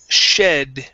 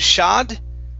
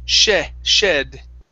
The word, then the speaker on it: shed: is uh the word shed right here instead of shod okay with an ah it's an e sound shed there you go good